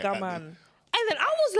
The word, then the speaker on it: OGAMAN: Yeah, bare people don't get the pronunciation right. OGAMAN.